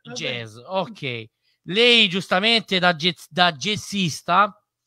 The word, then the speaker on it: jazz: l'obiettivo dell'intervista, perché alcuni dicono jazz. No, non è jazz. Lino Patruno, che è il grande in questo settore, io sposo la causa e quindi l'idea che se è nato in America deve essere pronunciato come l'America, quindi jazz. Si pronuncia jazz.